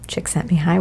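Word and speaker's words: Csikszentmihalyi: of activity and that was discovered by michael chick sent me high which i'm so proud of being able to pronounce his name impressed the second time is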